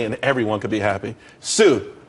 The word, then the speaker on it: TsU: everyone could be happy Sue TSU it's pronounced Su though that's a that's a website.